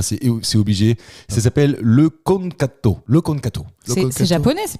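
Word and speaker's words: eukonkanto: Ça s'appelle le konkato.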